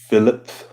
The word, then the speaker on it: Philippe: My name is pronounced Philip. Philip, written Philippe, or Philip.